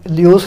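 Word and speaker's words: Lewis: था लियोइस, ठीक है, मैं लेविस कह के बुलाता हूँ वैसे, लेकिन काफ़ी लोग प्रनाउंस करते हैं लियोइस नाम से भी, ठीक है, प्रनाउंस देख लेना, आपको कुछ इधर प्रनाउंस करना तो देखना नहीं, आपको जेई नीट क्लियर करना है, तो मैं लेविस ही बोलूँगा, आप अपने अकॉर्डिंग जो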